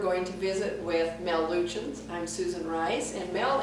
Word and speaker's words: Luetchens: In Cass County, we go by Luetchens, so there might be some people who will miss this, or family who will say, "Oh, you pronounced our name wrong."